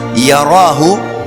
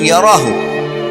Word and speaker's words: yarahu: Siapa yang buat seperti biji sawi dari kebaikan, yarahu, dia pasti akan diperlihatkan atau melihatnya. Wa may ya'mal mithqala dzarratin syarran yara. Kalau diberhentikan bacanya yarah, tapi kalau dibaca langsung yarahu.